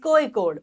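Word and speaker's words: Kozhikode: then Mangalore Kochi and cause कोड जिसको some time they are pronounce as कोइ कोड okay and of course Thiruvananthapuram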